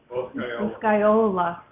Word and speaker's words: Boscaiola: Boscaiola.